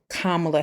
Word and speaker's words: Kamala: know that if you choose to vote for kamla Harris I said Kamala on purpose people mispronounce her name it's now become a slur but kamla Harris is somebody I believe will be a